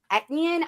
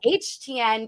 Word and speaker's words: Etienne: His way of pronouncing his last name is not Etienne. He says HTN because he says in the New Orleans Cajun area, you pronounce it with an H.